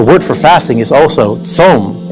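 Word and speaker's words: צום: for fasting is also tzom. It's pronounced exactly the same.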